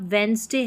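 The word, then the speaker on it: Wednesday: यानी कि जब भी आप वेंसडे है ना, वेंसडे है या हैंडसम है या हैंडकरचीफ है, तो इसका गलत उच्चारण कर देते हैं, वेंसडे कर देते हैं, डी का उच्चारण कर दिया है, हैंडसम कर दिया या हैंडकरचीफ कर दिया, जो कि बिल्कुल गलत है।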